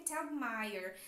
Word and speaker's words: Telgemeier: Para americanos, então eu busquei lá no Google para poder saber como que pronuncia direitinho e o Google me falou que é Telgemeier.